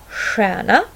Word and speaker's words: stjärna: Den här kombinationen st, j uttalas också på två olika sätt, nämligen sh och sh. Stjärna, stjäla, skälk.